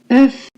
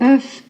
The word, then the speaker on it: œuf: œuf, Oh, you sort of sound like you're getting punched in the stomach. œuf.